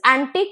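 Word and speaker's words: antique: एंटिक इज एंटिक एंड the second एंटिक हैज the spelling change it इट is ending with Q यू ई एंड इट is pronounced as एंटीक सो क जो है last में वो लोंगे होगा वो ज्यादा देर तक आपको बोलना है प्रोनाउंस करना है तो एंटीक विथ सी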